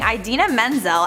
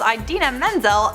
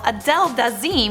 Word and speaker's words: Idina Menzel: number four we have John trola Miss pronouncing idena Menzel at the Oscars Idina menel was set to perform Let it go at the Oscars in 2014 for whatever reason John Travolta called Idina Menzel Adele daim when he was introducing her he got a